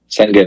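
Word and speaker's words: Şengün: I'm not going to pronounce this right. Alperen Sengun. Sengun, yep.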